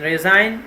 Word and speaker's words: resign: P silent leave resign in resign G is silent 17 jiggle first of